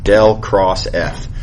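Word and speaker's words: ∇×F: So the way you would pronounce this is del cross F.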